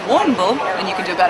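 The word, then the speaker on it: Warrnambool: felt a bit weird warren and bull is um a way of saying it and uh yeah chad you want to get in there and um you try warren bull there you go exact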